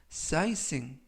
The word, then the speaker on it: sightseeing: 이번 표현은 sizing, 이라고 발음하시면 되겠고요. 이때 유의하실 점은 GH가 이번 단어에서는 묵음이라서 발음이 되지 않습니다. 품사는 명사, 뜻은 관광이라는 뜻을 가지고 있습니다.